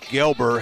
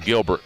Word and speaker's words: Gelber: I think I was calling him Gilbert in Game 1.